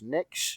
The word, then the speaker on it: Nyx: want to wake his mum up, who is Nyx, if I'm pronouncing that right. Yeah, Nyx is correct.